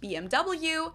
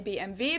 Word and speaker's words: BMW: english and in german in english people say bmw in german we say bmv because w is pronounced v in german and it stands for